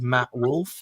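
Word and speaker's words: Matt Wolfe: of them is called Matt wolf and it's spelled w LF and e at the end he's like an American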